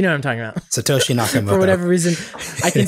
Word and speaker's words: Satoshi Nakamoto: cool to aspire to be, sort of the Satoru Nakamoto. I'm saying it wrong. What I know the Bitcoin anonymous. Nakamoto. Yeah, you know what I'm talking about. Satoshi Nakamoto.